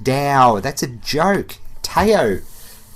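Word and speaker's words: Tao: I know it's pronounced Dow.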